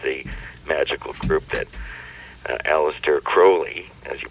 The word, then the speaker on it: Crowley: California, which is the magical group that Aleister Crowley, as you pronounced it correctly, founded here a long time ago.